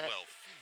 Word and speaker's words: Guelph: We were given the proper pronunciation of Guelph. It is not Guelph, as it appears to be. It's Guelph.